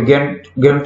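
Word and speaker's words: Gantt: ये होता है जेन चार्ट। इसमें हम इसको जेन चार्ट कहते हैं, ये सॉरी गैंट चार्ट कहते हैं। प्रोनाउंसिएशन में थोड़ी सी गलती।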